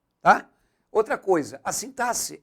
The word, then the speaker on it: sintaxe: a pronúncia u gente não é sintaxe igual muita gente fala não é sintae é o mesmo som de s tá outra coisa a sintase é a parte da